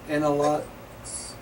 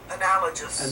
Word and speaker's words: analogous: Analogs? Analogs? No. Analogous. Analogous. Analogous Yeah.